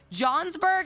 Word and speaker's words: Johnsburg: Illinois which is about 50 miles outside Chicago Johnsburg have you ever heard of that oh yeah